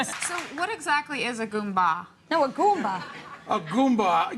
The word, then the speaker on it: goomba: So what exactly is a Goomba?